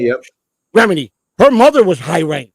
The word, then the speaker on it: Remini: not Rhymes, but I don't know how to pronounce her name. Remini, yep. Remini.